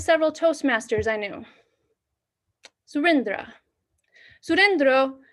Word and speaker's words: Sourindra: Sourindra rhymes with Jack Sparrow. Sourindra, Jack Sparrow.